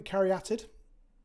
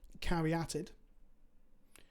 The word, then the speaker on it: caryatid: know that's my motto sylvan carriated that's right that's how you pronounce it caryatid uh we're gonna draw